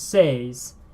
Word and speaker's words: seis: So number 6 in Spanish is says. Esse for S. Esse. E. I. Esse. So remember, E is how we pronounce E in Spanish, whereas E is how we pronounce I in Spanish.